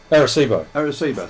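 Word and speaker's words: Arecibo: and pronounce this word correctly, Aricebo, can you pronounce that? Aricebo. So yeah, the Aricebo.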